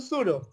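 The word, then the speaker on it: pseudo: সুডো, এটার উচ্চারণ কিন্তু সুডো।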